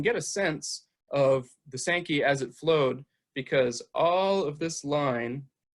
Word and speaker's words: Sankey: So they dug what we in Redlands call the Sankey, S-A-N-K-E-Y is largely how locals pronounce it.